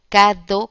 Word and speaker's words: cadeau: Por ejemplo, la palabra cadeau se escribe así en francés, se pronuncia cadeau, como lo pronunciaríamos en español, y significa regalo.